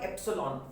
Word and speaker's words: epsilon: Medium k का value होता है 1/4 पाई एप्सिलॉन। इसको पढ़ते हैं एप्सिलॉन, एप्सिलॉन, स्पेलिंग मिस्टेक हो सकता है पर एप्सिलॉन पढ़ते हैं।